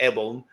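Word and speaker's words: Abeln: guess it runs um not sure of the pronunciation there but I think it's Ebon a-b-e-l-n um and a former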